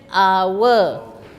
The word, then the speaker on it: hour: So although starts with a H, pronunciation hour. An hour.